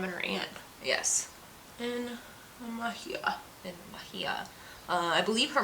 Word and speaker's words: Mexia: Some people pronounce it Mexia, but it's Mejia. It's Mejia.